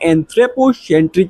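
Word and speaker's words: anthropocentric: एक होता है एंथ्रोपोसेंट्रिक व्यू और एक होता है बायोसेंट्रिक व्यू। अगर आपको प्रोनाउंसिएशन में दिक्कत आ रही होगी तो इसको तोड़ के पढ़ सकते हो। यहाँ पे देखो एंथ्रोपो देन सेंट्रिक बोलो और यहाँ पे इसको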